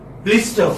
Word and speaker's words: blister: You know, R is not pronounced again.